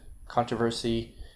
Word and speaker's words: controversy: these examples sorry now occasionally not too often occasionally get minus four stress on the fourth syllable from the end controversy pumpernickel pumpernickel is a